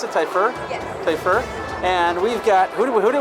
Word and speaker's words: Typhur: Is that how you pronounce it, Typhur? Yes. Typhur.